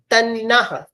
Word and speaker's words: तन्नः: तन्ना इसको क्या बोलेंगे? तन्ना टी A double N ए तन्ना समझ गए? टी A double N ए तन्नः इस तरह से इसको प्रोनाउंस करेंगे।